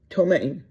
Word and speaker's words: ptomaine: And the poison it had in it it's spelled, and I think I can pronounce it, Ptomaine, and I think that you don't say that P. I think you call it ptomaine.